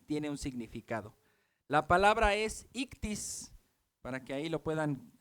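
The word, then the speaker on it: ΙΧΘΥΣ: en sus conversaciones verad sabes cómo se lee esto ictis ictis ictis y x o o en el griego luego suena como una c o como una J es un poco raro de pronunciar después hay una t después otra I y luego una s ictis ahora Así va el acróstico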